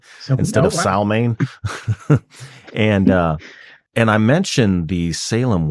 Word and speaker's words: Samhain: And Natasha herself is a pagan, and I learned how to properly pronounce Samhain, Samhain, I guess I should say, So, instead oh, of wow. Salmain.